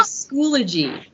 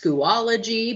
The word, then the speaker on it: Schoology: emphasize how you say schoolagy so schoolagy is actually three syllables so it's like three claps School G three syllables we've heard it said a couple ways schoology but remember that's like